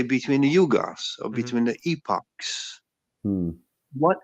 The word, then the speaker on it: yuga: to comprehend the intervals let's say between the yugas or between the epoch what is the why